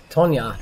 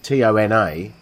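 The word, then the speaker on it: Toña: told you this, but the reason Tona is pronounced Tonya, it has a cedilla over the end. Is that a hat on the end? Yeah, it's the hat. Cedilla. Yeah. As that changes the N to nya.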